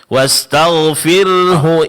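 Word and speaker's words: وَاسْتَغْفِرْهُ: wastagfirhu innahu. Sehingga di sini Bapak akan melihat eh lebih jelas lagi huruf ro yang ditipiskan.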